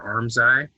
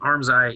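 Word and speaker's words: armscye: this construction so the arms eye is the hole and arms eye is like spelled a-r-m-s like c-y-e or something like that it's not spelled like like like your eyeball um so the arms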